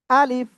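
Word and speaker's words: ألف: আলিফ। উচ্চারণ কেমন হবে? আলিফ। আলিফ। ঠিক আছে। প্রথমে আ তারপরে লিফ। নিচের ঠোঁটের পেট উপরে দুই দাঁতের আগায় লাগাবেন। লাগিয়ে হালকা বাতাস বের করবেন।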